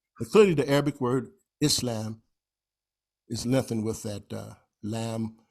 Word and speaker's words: Islam: And notice there's a lengthening of the L in Islam, but we don't spell it like we should if we really want to get precise pronunciation. And you'll see some books, they'll spell it I-S-L-A-A-M, right? Islam, right? But we, a lot of times, just say Islam.